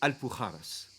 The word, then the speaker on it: Alpujarras: J'ai nommé, attention, je vais prononcer l'espagnol, hein. Je m'applique, hein. Les Alpujarras.